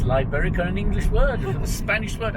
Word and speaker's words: Liberica: and it's called my liberaca coffee plantation and processing mill so not only can i not pronounce malay words i can't pronounce it's liberica an english word spanish